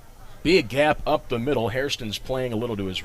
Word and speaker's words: Hairston: first one away mispronounced hairston there that's an easy uh an easy slip it sounds so much like harrison but it is indeed hairston h-a-i-r-s-t-o-n the lexington native